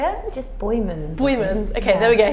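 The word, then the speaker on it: Boijmans: which I'm not going to be able to pronounce. Boyman. Say it? Just Boyman.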